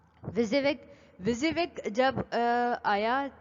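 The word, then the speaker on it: WYSIWYG: था ना आपका विजिविक, विजिविक ऐसे लिखते हैं, अभी हम पढ़ेंगे भी। ये एक अदद स्पेलिंग है विजिविक की, इसको विजिविक पढ़ा जाता है, प्रोनाउंस इसको विजिविक किया जाता है।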